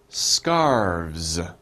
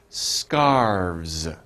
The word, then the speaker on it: scarves: Scarves. Okay? You guys try. Scarves. Scarves. Okay? So we have V and S. Scarves. Okay? Don't pronounce the E. Scarves.